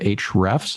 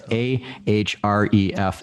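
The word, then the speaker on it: Ahrefs: name and people like is it H refs Nakamura no it's a href Escom the only reason I called H rest is because that's how they pronounce it in the videos but I've always been convinced by interest a trip they always drop the a when they talk about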